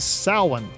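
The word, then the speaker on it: Samhain: Ireland and Wales of sa which sounds kind of funny and looks even funnier since it's spelled more like Sam Hayne anyway sin marked the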